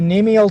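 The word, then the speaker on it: cnemial: a bone called the nemal tuberosity the c is silent and so this is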